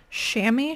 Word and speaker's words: chamois: This is a Cabela's, I've been told is pronounced chamois shirt.